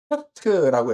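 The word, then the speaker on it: ח: 그 다음에 여덟 번째는 이제 헤트라고 했죠. 헤트. 헤트는 울타리. 울타리라고 말씀을 드렸습니다. 그래서 울타리는 빈틈이 없어야 한다라고 말씀을 드렸죠. 그래서 이 단어는 이제 H 발음인데 흐 발음인데 약간 강한 흐 발음이라고 그랬죠.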